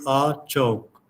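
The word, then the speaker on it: အခြောက်: uh the burmese language there's a word pronounced as a chalk a-c-h-a-u-k no the pronunciation would be a choke and this is a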